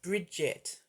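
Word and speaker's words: Brigid: Pronounced Bridget.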